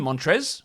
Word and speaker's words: Montrezl: table montrez harrell because his name montrez with that silent l it really should be montrezl trezzle it's a type